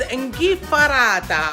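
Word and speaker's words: 'nchiffarata: Those are the three ways you can say it, but in Sicilian, it's inghifarata. I will write it down for you so you know how it's spelled, or at least I try to spell it as close as possible.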